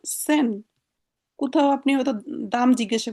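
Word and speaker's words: zehn: এটার উচ্চারণ সেন।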